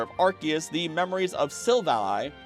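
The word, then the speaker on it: Silvally: Speaking of the power of Archus, the memories of Silvali or Sil Valley, I think it's pronounced Silvali and I always mess that up, are meant to mimic the plates of Archus through the RKS system.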